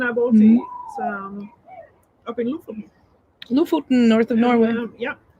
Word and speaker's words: Lofoten: My mom pronounces that Lofoten. It is no, it's Lofoten. Lofoten.